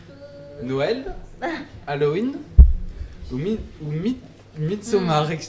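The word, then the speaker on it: Midsommar: Noël, Halloween ou Mitsomar ? Excusez-moi, j'ai du mal à le prononcer. Ça se prononce plutôt mitsoha.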